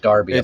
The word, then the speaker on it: Derby: BTC Derby on Twitter d-e-r-b-y pronounced Darby apparently pronounced there you go